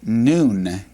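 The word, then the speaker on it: נון: And it's pronounced noon. Noon, like the noonday sun.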